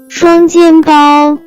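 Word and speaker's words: 双肩包: as 双肩包，双肩包，双肩包。 Let's break down it to understand it even more. It has 3 characters, with different pronunciation. First character is 双 pronounce with first tone.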